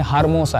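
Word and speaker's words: hermosa: हर्मोसा. ला Primavera S हर्मोसा। देखना, ला का उपयोग स्त्री यह शब्द से पहले आता है, यह एक लेख। और हर्मोसा, कई एके हर्मोसा क्योंकि एच यह यहाँ लिखा है।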